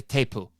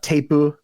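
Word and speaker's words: テープ: hear them say it, they say it with a Japanese accent. So say teipu. There's that U sound at the end that often accompanies hard consonant sounds in Japanese, and so you have teipu and then no des,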